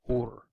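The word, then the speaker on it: אור: Okay, the Hebrew word for light is or. That's how it's pronounced. It's basically aleph, vav, which is kind of a V, and resh, or, but it's pronounced or. Okay.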